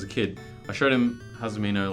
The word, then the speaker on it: Hazumino: Everyone calls it Hazimono. I can't remember his age, but he's young. He's a kid. I showed him Hazumino like a couple months ago.